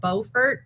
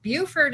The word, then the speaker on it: Beaufort: Because I called it Beaufort, and they said, "Oh, No, Buford is in No, South. I'm Buford. Yeah, this is Beaufort. And I was like, oh, they're spelled the same. And they're like, well, you're in Beaufort.